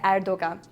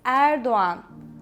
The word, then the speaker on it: Erdoğan: All the news they say Erdogan, but it's wrong, literally so wrong. Yes, it's Erdoğan. Erdoğan.